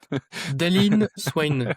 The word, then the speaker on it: Dailyn Swain: Daylin Swain et Daylin qui s'écrit d'une façon, assez particulière, en fait.